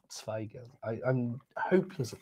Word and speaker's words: Zweigelt: Yes, wine number 6, Zweigelt. Probably more T at the beginning of Zweigelt.